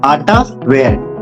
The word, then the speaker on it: Attaware: आटा वेयर इस तरह से प्रोनाउंस होता है।